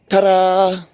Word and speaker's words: ta-da: It's actually the word's spelled with a D, but you're pronouncing it like you're rolling your R.